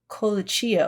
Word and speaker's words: Colicchio: So we haven't watched any more, but I wanted to just say out of respect that it is Tom Colicchio.